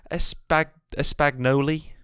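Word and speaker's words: Espagnole: Whereas fucking espagnoli.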